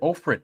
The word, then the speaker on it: Ofrit: I said Ofrit, not I. And I said there is an Ifrit, but I made sure to clear that up and say her name is not Ifrit, but how close it was to Ifrit.